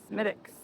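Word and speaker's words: Smithwick's: The W is silent. Smittics in front of you.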